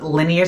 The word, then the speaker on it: Linjer: The Linjer team. It's Norwegian, by the way. Just love that. You can pronounce it as linear too.